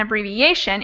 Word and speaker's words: abbreviation: verb to a noun, the stress will move over one syllable, which is exactly what we see here. abbreviate, and abbreviation.